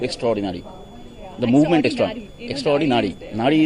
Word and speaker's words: Naari: Nari is like, it's spelled like N-A-A-R-I.